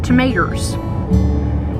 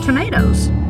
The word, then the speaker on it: tomatoes: She said, "I need to get me some tomatoes." And I corrected her by saying, "You mean tomatoes." I emphasized the last syllable.